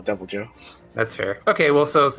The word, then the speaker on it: Deviljho: sworn that was called I thought it was devil Joe but like looking at it it looks like Dilla jeo no it's it's devil Joe but there's an H